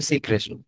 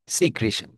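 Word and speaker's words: secretion: এন্ড লেখছে এক্সক্রিশন, এটা কাটো, দেখো সিক্রেশন। সিক্রেশন, উচ্চারণ হচ্ছে সিক্রিশন।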